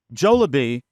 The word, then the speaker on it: Jollibee: you uh forget it you were saying uh jolabi uh Jillian white but she says uh she